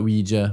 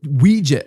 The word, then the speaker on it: Ouija: So we had talked a little bit about Ouija when we were doing the Annabelle episode.